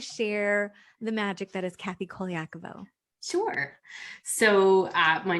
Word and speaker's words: Kathy Colaiaco: can you please share the magic that is kathy koliakovo sure so my name is kathy koliakovo and you are saying it right i am